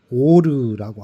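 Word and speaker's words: אור: 빛이라는 것은 히브리어로 오르라고 합니다. 오르라고 읽습니다.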